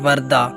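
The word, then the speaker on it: Warda: है हमारे पास वर्धा वर्धा के अंग्रेजी के स्पेलिंग है डब्ल्यू ए आर डी ए वरदा जिसके मैनी है मर्बी सरपरस्त और मुहाफिज अगला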